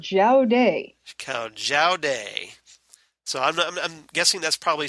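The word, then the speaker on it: Jowday: extreme negative force called zhao day day so i'm guessing that's probably spelled j-a-o-d-e-i that's an excellent question but colloquially it's pronounced judy right so we're starting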